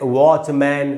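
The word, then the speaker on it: watchman: लेकिन दोस्तों मैं आपको बता दूं, यहाँ पर MAN का उच्चारण मैन नहीं है, इनका उच्चारण है मन।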